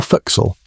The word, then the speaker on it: forecastle: Welcome to the forecastle, or forecastle if you want to pronounce it like actual sailors do, which is the crew's